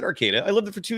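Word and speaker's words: Arcata: Um David Sassy in the chat writes it's Arcada not Arcadia. I never said Arcadia. I said Arcada.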